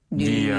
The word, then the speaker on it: 女儿: 빼면은 맞아요, 니얼. 맞아요. 네, 이 니얼. 말이 똑같네요. 맞아요. 니얼. 네. 딸입니다, 이게. 딸입니다. 자, 그러면은 다시 한번 아들은 아들은 얼즈. 한 번 더. 얼즈. 네. 딸은 니얼.